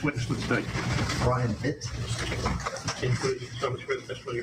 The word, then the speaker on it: Vitt: I want you to state your name first and last and spell it present to the court. Okay. My name is Brian Vitt.